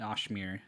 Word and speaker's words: Oshmir: We call it Oshmir is how you pronounce it.